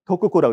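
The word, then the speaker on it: 徳子: 덕자씨, 이건 도쿠코라고 읽습니다.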